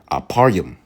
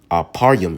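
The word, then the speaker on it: אפרים: And the sixth one is Aparyum. Aparyum in the Hebrew, how you pronounce it in the Hebrew, means I am fruitful.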